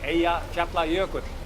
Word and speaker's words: Eyjafjallajökull: Eyjafjallajökull, maybe you remember the name? Yeah, I did. And, I remember not being able to say the name. No. How do you say it again? Eyjafjallajökull.